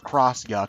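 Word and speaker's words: X-Yux: enemy to miss the X Yu oh no uh she just said it's pronounced the cross Yu yeah whatever it's it's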